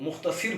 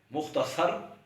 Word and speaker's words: مختصر: اور ایک اور لفظ ہے مختصر، اس کو بھی کئی لوگ مختصر پڑھتے ہیں، یہ غلط ہے۔ مختصر درست تلفظ ہے۔ آج کے لیے اتنا